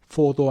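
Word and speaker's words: phở: 포도 아니고 퍼도 아니고 중간쯤 되는 발음이라고 해요. 성조가 있어서 이 정도로 읽는답니다.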